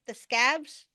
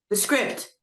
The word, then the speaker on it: The Script: Am I thinking that pronounce that band right? The Scabs? Scripts? How do you spell it? SCRIPT. The script.